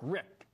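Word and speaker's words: Richt: for yeah well is I don't think he pronounce his last name rich I think it's Rick but I could be wrong about that he's the coach of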